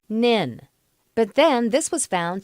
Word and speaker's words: NHIN: Network was known as the NHIN, pronounced NIN.